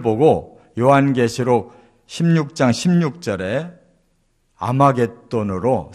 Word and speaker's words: 아마겟돈: 바로 떠오르는 단어 거든요 거기에 이 학자를 앞에 붙여서 하 무기 또 가 아마겟돈 이라는 이 헬라어 발음으로 이렇게 명칭이 바뀐 거예요 그렇기 때문에 2 아마겟돈